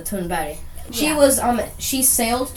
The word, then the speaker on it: Thunberg: Her name is Greta Thunberg. That's the English pronunciation, but in Swedish it's Greta Thunberg.